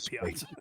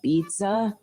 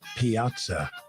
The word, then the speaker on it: Piazza: here to slander Mike Piazza. Also such colorful artwork. How do you say pizza? No, honey, it's Piazza.